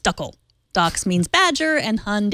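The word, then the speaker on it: Dackel: But actually in German, we mostly call them dackle, pronounced duckle.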